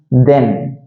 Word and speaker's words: than: கொஞ்சம் அந்த ஏ சவுண்ட் கொஞ்சம் அதிகமா வரும். எப்படி வரும் அப்படின்னா கேன், கேன் அப்படின்னு சொல்லுவோம் இல்லையா, கேன் அதே மாதிரி தான் தேன்.